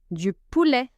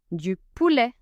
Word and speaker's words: poulet: Du poulet. Du poulet. Chicken. Here, letter T isn't actually silent. It is added to turn this into a phonetic E.